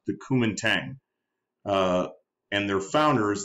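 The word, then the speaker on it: Kuomintang: understanding but the Chinese nationalists are called that's pronounced the Kum Tang uh and their founder is this man sunet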